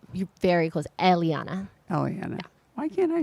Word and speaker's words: Eliana: Eliana, right? You're very close. Eliana.